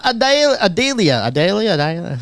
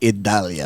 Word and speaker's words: Idalia: All right, the big news in Florida: tropical storm Adalia. How do you say that one? Paco. Oh, Get your adjuster Tropical out. storm expected to intensify. It's actually Idalia.